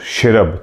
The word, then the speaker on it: cherub: ठीक, इसी के नीचे आता है शेरब, this is pronounce शेरब, चेरब लिखा हुआ लेकिन शेरब बोलते हैं उसको, CHERUB।